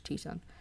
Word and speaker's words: Tucson: cities in the country, and Tucson, even though it's spelled Tucson. I'm pretty sure it's Tucson.